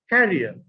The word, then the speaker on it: carrier: One is pronounced career, and the other is pronounced carrier.